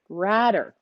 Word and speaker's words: Ratter: So Henry says how you pronounce his last name is it rhymes with ladder. So it's Henry Ratter. We've been saying it wrong the whole time.